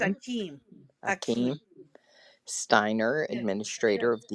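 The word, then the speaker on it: Achim: you paralyze it, said, would you like to pronounce his first name? I believe it's Akeem.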